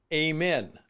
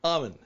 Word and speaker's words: Amen: is by Daniel G amen though I think he pronounced it oven a-m-e-n and it's called change